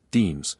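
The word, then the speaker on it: disme: The very beginning asterisk asterisk the first official US 5-cent coins were actually called half dimes pronounced deems struck in 1792 from silver possibly from melted down household silverware provided by George and Martha Washington themselves.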